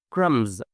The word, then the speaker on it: crumbs: might say claim, comb, crumbs, that and you can tell them like as a rule that every M followed by B the B is silent B for boy and